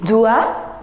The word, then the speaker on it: doit: Il doit. Don't pronounce S-S-T-T, non.